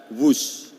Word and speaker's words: Whoosh: W-H-O-O-S-H. Dibaca WUS. Ini diinspirasi dari suara yang melesat dari kereta berkecepatan tinggi ini. Dan singkatan dari waktu hemat, operasi optimal, sistem hebat. Sekali lagi, W-H-O-O-S-H, tapi bacanya WUS.